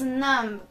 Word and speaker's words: numb: tuka my son is num it's silent b again number exception i